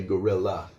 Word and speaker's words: guerilla: We say -iIla, but in Spanish the double "L" would actually have a "y" sound, it would be "-illa" but ... so in English we do say guerilla.